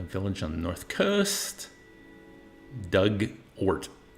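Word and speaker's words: Dugort: Doug Ort. Oh, Ort rhymes with hurt. Duggart.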